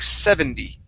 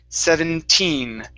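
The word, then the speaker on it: seventeen: number 17 okay now make sure that you're pronouncing the n at the end of this word if not it sounds like 70. okay so we don't want to say 70 it's 17. hear that 17 yes there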